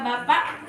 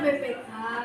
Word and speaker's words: BPK: Jawabannya adalah Bapak BPK, Badan Pemeriksa Keuangan, yaitu mengelola keuangan pemerintahan. Bacanya BPK. Iya, Badan Pemeriksa Keuangan Bukan Bapak.